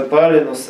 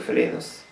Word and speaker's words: Палинус: Потому что Палинус они произносили как Флинус. А его имя как бога огня именно Палинус. Как палящий.